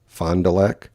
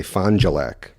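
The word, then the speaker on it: Fond du Lac: to a town called Fondulac it's spelled f o n d d u l a see Fondulac the old-timers around here will say filac so that's just uh one of those quirks but at any rate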